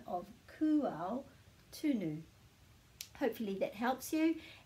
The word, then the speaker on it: Kū: was called that in the first place so kual is to do with the young animals and